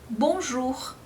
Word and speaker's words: bonjour: Como por exemplo nas palavras bonjour. Veja que bonjour você tem o O e o U juntos, bonjour, mas aí faz esse som de bonjour.